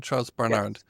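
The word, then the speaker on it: Charles Barnard: So the captain of the Nenina was someone named Charles Barard. Is is that the right pronunciation? Charles Barard.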